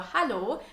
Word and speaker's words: hallo: The most commonly used phrase to greet someone in a casual or informal way is a simple hallo. Hallo. Almost sounds like the English hello.